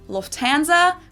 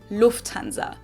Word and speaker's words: Lufthansa: In English, people usually say Lufthansa, but in German, we say Lufthansa. So the emphasis is on the first.